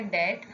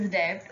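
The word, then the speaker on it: debt: Okay, तो ये हम ना इसको पढ़ते हैं लाइक कि डेट, ओके, प्रोनाउंस होता है डेट और लिखा आता है डेप्ट, ओके, तो never read this डेप्ट, okay, it's डेट, okay.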